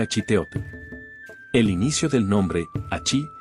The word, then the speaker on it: Achiteotl: La grafía española que acompaña al jeroglífico indica que se pronuncia a chiteot.